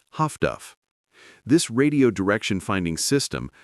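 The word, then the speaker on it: Huff-Duff: The solution was highfrequency direction finding, HFDF, pronounced Haftduff.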